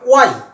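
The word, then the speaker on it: why: এই শব্দটাকে অনেকে হোয়াট বলে, এটা হোয়াট নয়, এটা উচ্চারণটা হবে ওয়াট। ওয়াট, এটাকে হয়ার বলে, এটা হয়ার নয়, এটা হবে অয়ার। অয়ার, এটাকে হোয়াই বলে, এটা হোয়াই নয়, এটা হবে ওয়াই।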